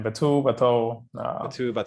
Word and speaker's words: Batou: Batu. How do you pronounce it actually, Pol? Yeah, either way is fine. Batu, either works.